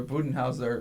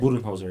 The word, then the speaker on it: Budenholzer: But no, honestly, that was a good shout, though, for Budenhauser earlier. Yeah. Did I say his name right? Budenholzer, yeah.